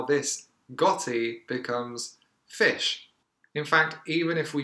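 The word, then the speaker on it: ghoti: might think it's pronounced gotti but in fact this is a creative re-spelling of the word fish how do we get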